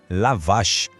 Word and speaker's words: la vache: Em francês, la vache.